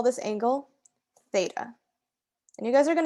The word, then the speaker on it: theta: is because it comes up a lot it's pronounced like this theta and it's a greek it's a letter in